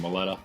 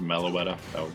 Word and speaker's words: Meloetta: Marth dealing with some song bombs from Maletta. I guess maybe it's pronounced Meloetta. That would kind of make sense. Melody. Meloetta.